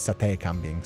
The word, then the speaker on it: sate kambing: The term sate or sate refer Oh yeah, I was so I was pronouncing it wrong. It's sate kaming, sorry.